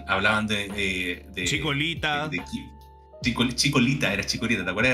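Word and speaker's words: Chikorita: y hablaban de de Chicolita Chicolita era Chicolita, ¿te acuerdas? Era con L, porque los japonos no pronuncian la la R, cachá.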